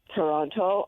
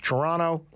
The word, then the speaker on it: Toronto: city names, particularly Toronto, whether it's Toronto or Toronto. You give a hard T at the end there.